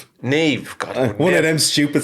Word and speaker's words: Niamh: Yeah, no, it's NIAMH. Look at his face. I know. But it's actually the Irish language. So it's the Gaelic language, and that's where her name was derived from.